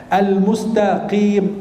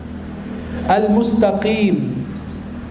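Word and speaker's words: المستقيم: Ghairil maghdub, al-mustaqim, ada orang bacanya al-mustaqim. Al-mustaqim, sinnya jadi sad atau ta'nya jadi ta. Al-mustaqim itu salah. Al-mustaqim salah. Dibacanya qaf, aq.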